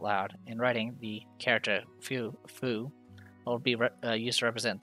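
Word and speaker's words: フ: vertical line this is foo or foo pronounced as foo like in the word fool in japanese the f sound can almost sound like an h it's very subtle and you need to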